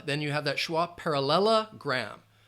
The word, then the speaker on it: parallelogram: you have that schah parallelogram parallelogram five syllables par parallelogram and quadrilateral